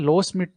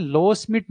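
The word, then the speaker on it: Loschmidt: हैं, उसको बोलते हैं लो स्मिथ नंबर। ठीक है ना, डी साइलेंट है, ये दोनों डी है ना, ये दोनों डी ही साइलेंट है, इसलिए इसको बोलते हैं लो स्मिथ नंबर।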